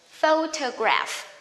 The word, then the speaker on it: photograph: Remember, gra. Photograph. Photograph. Don't mix G here. G. Gra. Photograph.